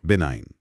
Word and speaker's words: benign: बी ई एन आई जी एन। बिनाइन। जी silent है इसमें थोड़ा।